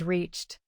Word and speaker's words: reached: Compare closed and reached. Closed ends with voiced z, so use d. Reached ends with voiceless ch, so use t.